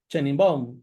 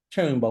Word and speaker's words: Sheinbaum: del oficialismo, la señora Baum, no sé si está bien pronunciado el apellido. No, no está bien pronunciado. ¿Cómo se pronuncia? Sheinbaum.